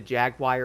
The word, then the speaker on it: Jaguar: You have the Jaguar and stuff like that or Jaguar.